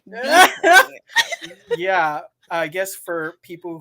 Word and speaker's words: Beifong: It's Tough Beifong, okay? That's how you pronounce it correctly. You can say it however you want, I guess. No, If you get the Carrie's correct pronunciation is Bifong, okay? We're all gonna say it that way.